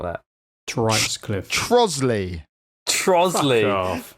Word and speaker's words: Trottiscliffe: not that, is Troatscliffe. it? It's going to be like Troatscliffe or something. I bet it's like, I don't know. I can't even think of anything that's not that. Troatscliffe. Trosley.